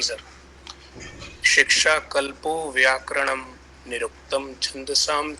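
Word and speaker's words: व्याकरणम्: problems पहली problem देखिए जो लिखा है वैसा ही पढ़ना है क्या आपने देखा व्याकरणम लिखा है जो वो व्याकरणम तो नहीं लिखा है ना ण के ऊपर तो रेफ नहीं लगाया है मैंने ण के ऊपर र नहीं लिखा है ना र पूरा लिखा है ना नीचे तो उसका उच्चारण भी पूरा होगा तो शिक्षा कल्पो व्याकरणम बोलना है व्याकरणम नहीं बोलना है हो सकता है आप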